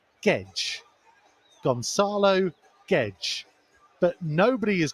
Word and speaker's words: Guedes: saying this for tomo's benefit technically it is pronounced gedge gonzalo gedge but nobody is going to call